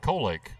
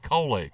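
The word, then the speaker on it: Colelake: I did say it right, Colake. You did. Yeah, she actually she phonetically spelled it out one night. C-O-L-E-L-A-K-E, Colake.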